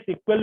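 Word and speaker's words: SQL: इसको प्रोनाउंस में सिक्वल भी कहा जाता है, सिक्वल लैंग्वेज भी शॉर्ट में कहते हैं।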